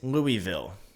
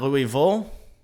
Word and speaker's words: Louisville: specified again with this it is Louisville it is not Louisville it is most certainly or along those lines he said it is most certainly not how they say it Louisville right and I get